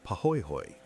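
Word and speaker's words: pahoehoe: The first is called pooy hoy, pronounced pahoy hoy.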